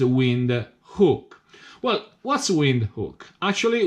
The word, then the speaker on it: Windhoek: but I realized that you can pronounce that with by using you instead of all II that is wind hook well what's wind who